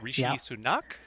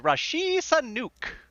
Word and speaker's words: Rishi Sunak: the new prime minister Rishi sunak uh Mr Biden believes that it was better pronounced as Rashi Sanuk listen listen he's our